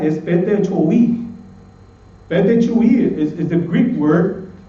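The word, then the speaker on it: πτωχοί: En el griego, hermanos, bíblicamente en el griego, hermanos, la palabra pobre es un poquito difícil de pronunciar, es petechoi.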